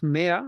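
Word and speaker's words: مائة: Uh n yes in it there is 300 real yes mashallah that's good so remember that this al if of mayha we write it we do not pronounce it you can write it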